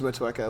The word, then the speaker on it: Motueka: I know there's so many different, like Citra and Motu? I always mispronounce that. Yeah, I was mispronounce that. We do use Motueka.